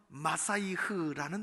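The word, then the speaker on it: משיח: 그래서 구약을 관통하는 두 번째 강물은 메시아 대망의 강물입니다. 메시아라는 말은 히브리어예요. 히브리어. 그 나라 말이에요. 그 나라 말. 그래도 우리가 많이 쓰죠. 정확하게 발음하면 마사이흐라는 단어입니다. 마사이흐. 그것이 발음하다 메시아, 그렇게 되어 있어요.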